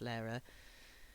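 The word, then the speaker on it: Lehrer: by uh Tom Lara I think it's pronounced Lara uh yeah new to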